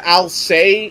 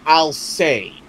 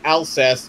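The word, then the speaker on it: Alcest: it's a okay so the band's name is I'll say and it's pronounced a-l-c-e-s-t now according to the vocals of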